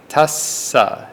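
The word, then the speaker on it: tassa: so we have Tas tasa it's like two different syllables Tas and sa we also have the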